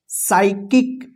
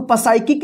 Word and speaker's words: psychic: यहां पे देखिए PSYCHIC, क्या पढ़ेंगे, क्या पढ़ेंगे, साइकिक। इसको पसाइकिक नहीं पढ़ेंगे, देखिए SY है ना, तो इस पी का उच्चारण नहीं होगा, साइकिक पढ़ेंगे।